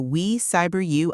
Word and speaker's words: We Cyber You: You are listening to the We Cyber You Unlocked podcast. And uh for those keeping track of our pronunciation at home, that is W E Cyber You.